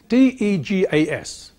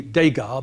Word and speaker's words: Degas: This is the spelling, D-E-G-A-S. He pointed out that, as there is no acute accent over the E, it shouldn't be Degas, but Degas.